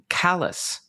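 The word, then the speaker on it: Calais: The town in Maine that CBP officer drove to is pronounced callous uh rather like his attitude towards shooting an innocent citizen and bragging about it.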